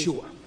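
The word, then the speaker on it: ישוע: Yeshua. O Yeshua, ¿cómo Estamos se ahí.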